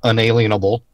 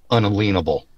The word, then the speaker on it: unalienable: an inalienable right now listen to how I pronounce that not inalienable unalienable am I gonna have